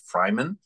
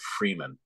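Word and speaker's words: Freiman: is coming through you you pronounced the family named Fryman and I think the rest of it call it Freeman a lot of us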